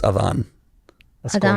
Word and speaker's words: Adan: It's Adan. That's a cool name. Adan. Adan. Yeah, so Adan. it's spelled ADAN. Adan. Yeah, it's my dad's name, and it's pronounced Adan.